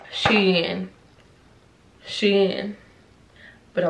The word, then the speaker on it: SHEIN: Oh, it's actually, y'all, did y'all know it's actually pronounced SHEIN.